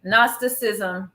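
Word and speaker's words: Gnosticism: I got a definition nism with a GN what well the g is silent nostic ism is that human beings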